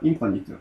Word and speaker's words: infinite: infinite. 발음이 다르죠?